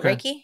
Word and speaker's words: Reiki: say it wrong, so I apologize, but it's Reiki. Have you heard of that? You said it right. Is it Reiki?